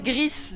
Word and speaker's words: Gris: Enfin, c'est Gris, du coup, on m'a dit. C'est prononcé à l'espagnol.